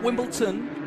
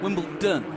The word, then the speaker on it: Wimbledon: in Wimbledon white in Wimbleton white no not Wimbleton Wimbledon wion yes Wimbleton got makes sense that's all